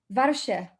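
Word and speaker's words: ווארשע: How do you pronounce Warsaw in Yiddish? Great question. Warszawa.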